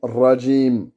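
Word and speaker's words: رجيم: Et là, le ra, ça doit être un ra qui est roulé, comme en espagnol. D'accord? Comme l'espagnol, et pas avec la gorge. Et il ne faut pas que ce soit un W.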